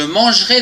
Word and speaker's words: mangerai: verbe manger demain je mangerai des frites attention ici il y a un peu après le g on ne le prononce pas demain tu mangeras des